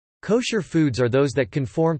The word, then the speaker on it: kosher: Food that may be consumed according to halakha law is termed kosher in English, from the Ashkenazi pronunciation of the Hebrew term kasher, kasher meaning fit.